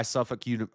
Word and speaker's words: Suffolk: Similar poll by Suffolk. It's pronounced Suffolk.